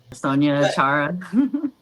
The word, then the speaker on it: Sonya Achara: Am I pronouncing that correctly? Sonya Achara.